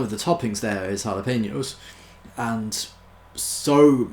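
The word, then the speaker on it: jalapeño: when they were ordering a lot of people in England mostly say JA Lupino because we don't speak Spanish apparently but you see you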